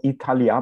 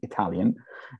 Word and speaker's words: Italyah: with the tav and if one takes the the the three syllables apart italia uh divided that way in hebrew these are three hebrew words e means island means